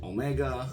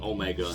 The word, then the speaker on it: Omega: speak for itself um omega just like will be pronounced in english the name is the